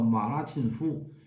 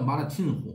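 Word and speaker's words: 玛拉沁夫: 拉沁夫，其实他这个写成汉字是夫，应该是兀，他这应该发音叫马拉沁虎，马拉沁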